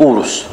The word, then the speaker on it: Urus: طبعا كلمة أوروس وتنطق أوروس بالضم، لازم واحد يموت بوزه شويه كده، شو واقف جنب الساره وقفلت نفسها بنفسها.